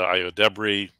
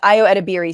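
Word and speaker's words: Ayo Edebiri: So, got the Deb Marshawn Lynch, the Io Debris. It's all fire. I know, it's Io Edebiri. See, I know that. I know how to pronounce some things.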